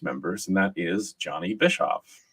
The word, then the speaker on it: Bischof: and that is Johnny Bischof. Am I pronouncing that correctly, or is it Bischoff? It's Bischoff. You nailed it.